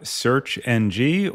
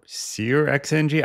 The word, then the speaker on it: SearXNG: Next up, we have searxng or searxng. I actually looked up how to pronounce this and I got a bunch of different answers. So I'm gonna go with searxng or like search next generation.